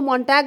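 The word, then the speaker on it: Montague: and Juliet is from Capulet a family Romeo मटग and Juliet Capulet okay मटग एम ओ एन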